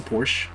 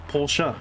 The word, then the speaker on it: Porsche: ] german and that in german we pronounce every letter in our [ __